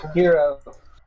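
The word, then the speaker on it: Kiiro: Hero. Shiro, sorry. Hero. Oh, the S is silent?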